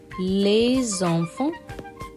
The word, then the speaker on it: les enfants: And if you want to say children, plural, les enfants. Les enfants. We combine the sounds here.